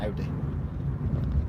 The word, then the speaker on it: Audi: Or Audi, depending on how you say it. I say Audi. As in, howdy boy!